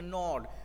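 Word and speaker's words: gnawed: not this would be the nord g should be silent here that g n a w ad that pronunciation should be not the examination was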